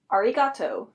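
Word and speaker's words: ありがとう: let's try another word arigato versus notice that the r sounds kind of like an l because of this native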